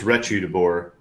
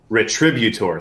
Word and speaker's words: Retributor: You see this Hell's Retributor. Gosh, Retributor. Thank you. That's it. I put the accent on the wrong syllable.